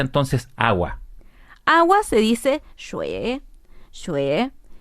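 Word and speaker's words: 水: Cómo se dice entonces agua agua se dice xue xue y si quiero agua caliente es re re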